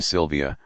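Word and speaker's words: Silvia: As a final defeat in the course of a brave contest, the Italian name Sylvia, with its accent on the first I, protracts the subtle fascination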